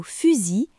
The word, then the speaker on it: fusil: Dans le mot fusil, la lettre I et la lettre L à côté se prononce I.